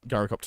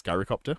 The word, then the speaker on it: gyrocopter: It's not a Greek food. It's gyrocopter like gyroscope. See, the thing is, I've looked this up previously, and the correct pronunciation according to Google is gyrocopter, which is how I've been saying it.